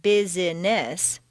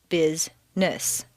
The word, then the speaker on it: business: are not actually spoken for example business is not busyness but rather business just when you get